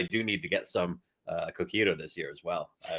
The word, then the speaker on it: Coquito: need to get some Coquito this year as well. Are you pronouncing it Cojito? Coquito. It's what they drink in Barcelona.